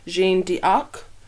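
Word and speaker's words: Jeanne d'Arc: is actually based from the French pronunciation of Jonah arc which is gene D arc hmm so of course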